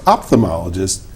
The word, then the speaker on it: ophthalmologist: We we left out the first H. I was good after that, but that H was It's a like silent H.